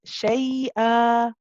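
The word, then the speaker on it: شيء: fat okay now this when we stop on this word we pronounce it as shay uh you take away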